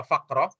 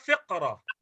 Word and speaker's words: فقرة: Untuk paragraf ada yang membaca faqrah, saya lebih suka faqrah. Ada juga yang membacanya fiqrah. Cuman kalau membaca fiqrah itu dia mirip sekali dengan kata fikrah. Ya, qaf dengan kaf bagi telinga orang Indonesia sama aja.